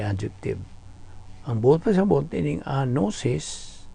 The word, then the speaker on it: gnosis: Kini, gikan po ni sa Grigong pulong nga gnosis. Wala. Gnosis. Kahibalo. Gnosis. G-N-O-S-I-S. Silent G, ha? Gnosis ka na pag-pronounce na to.